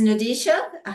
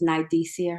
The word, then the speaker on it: Nidia: certainly not least is nadisha Hernandez um and let me get you spotlighted here um but go for it yes um first I pronounce my name for everyone my name is Nidia her name oh I'm